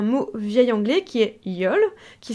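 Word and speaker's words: jól: accent aigu l et qui se prononce donc à peu près de la même façon c'est pas tout à fait Yul c'est Yol avec un un E qui est entre le E et le ou pour être très très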